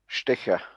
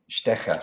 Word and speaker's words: Stecher: Stecher. Stecher. Okay. Yes, more like a sh, like a you know, Stecher, Stecher.